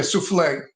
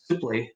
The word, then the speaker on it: Suplee: Yeah, souffle. Suplee. No, not souffle. Oh, not souffle. Suplee. I know. I'm being sarcastic. I forgot. It's French. You have to pronounce it French.